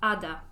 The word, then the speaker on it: Ada: Of course, my name is pronounced Ada, not Ada.